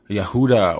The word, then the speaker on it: Yehuda: So it's talking about descendants of Yehuda or Judah, which is the pronunciation of Judah, the tribe of Judah.